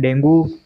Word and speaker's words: dengue: बात कर रहे हैं डेंगू जिसे हिंदी में डेंगू बोलते हैं और इंग्लिश में इसका जो उच्चारण होता है वो होता है डेंगी कम्युनिकेबल डिसऑर्डर है मैनेजमेंट